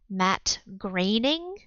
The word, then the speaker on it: Groening: um did you know that his name is pronounced Matt grading oh no it's like some jiff gift I look at Matt Groening be no it's raining whatever whatever the Simpsons